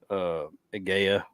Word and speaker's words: Gaia: So the AI makes the I sound normally. So we'll call it Gaia.